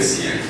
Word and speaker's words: siens: Il revient pour prendre tous les siens. C'est pas chien, hein, c'est sien.